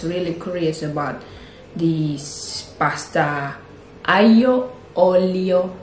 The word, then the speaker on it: aglio olio: Now I can say it right. Before I would say aglio olio. Aglio olio, which means pasta made with garlic and oil, which is olive oil, I think. Mm-hmm. So don't say it wrong again after you watch this video.